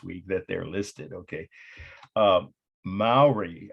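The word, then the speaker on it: Māori: Maori, I used to say Maori, that's mispronouncing the native or indigenous name of this culture.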